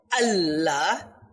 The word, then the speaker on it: Allah: in the same way most important word allah as a double l therefore we should pronounce